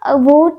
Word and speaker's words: huit: इसकी प्रोनाउंसिएशन तो वी के जैसे ही होती है, बट इसकी स्पेलिंग होती है HUIT, वी, ठीक है, बोलो वी, लिखो HUIT, ठीक है।